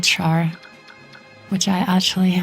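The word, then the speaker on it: Schär: glutenfree like bread and other gluten-free goats called char which I actually like eat occasionally although it's spelled differently.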